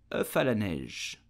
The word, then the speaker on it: œuf à la neige: So how do you pronounce the name of this dessert in French? You will say œuf à la neige.